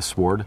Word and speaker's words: sword: you call it a sword sword sword is it a sword or a sword i feel like that it should be like a silent w maybe maybe okay